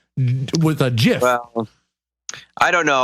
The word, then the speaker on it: GIF: giraffe G with a gif I don't know I still say GIF because I I feel like when I say GIF with a hard G it's like a micro